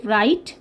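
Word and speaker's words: write: ডাব্লিউ যখন আর এর আগে বসে, মানে ডাব্লিউ আর কম্বিনেশন যখন থাকে, ভালো করে দেখো, ডাব্লিউ আর কম্বিনেশন যখন থাকবে তখন কিন্তু ডাব্লিউ বাবু ভয় পেয়ে যান, তখন আর উনি কথাবার্তা কিছু বলেন না, তখন ডাব্লিউ সাইলেন্ট হয়ে যায়।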